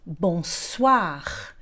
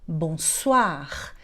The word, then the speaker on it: bonsoir: gente vai dizer então bonsoir. Veja ali que o OI tem som de OA, mas você já sabia disso, porque você conhece a palavra toilette, por exemplo.